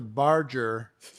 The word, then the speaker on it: Barger: last name is mispronounced it sounds like it is spelled barge like the boat with the er pronunciation which you could put